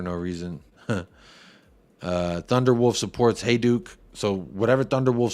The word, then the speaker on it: Hajduk: how would I know it's pronounced hey Duke hey Duke that's really bad um